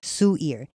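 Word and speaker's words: Suear: s u i mean it's spelled s u e a r Sue ear and you when you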